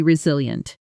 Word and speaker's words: resilient: She's incredibly resilient. Every setback just seems to make her more determined. Say it with me, noting the stress. Resilient, strong on the second syllable.